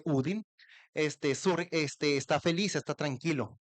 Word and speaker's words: Odín: La las auroras boreales se dice que surgen cuando el el eh cuando Odín, que no se dice Odín, sino en Noruego se dice Udin, este está feliz, está tranquilo.